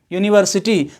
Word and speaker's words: university: यूनिवर्सिटी में भी UNIVERSITY, यूनिवर्सिटी, तो यूनिवर्सिटी में भी फर्स्ट लेटर U है और उसका जो साउंड है वो कॉन्सोनेंट है। लेटर तो वोवेल है बट साउंड कॉन्सोनेंट है, तो वहां A का यूज होगा।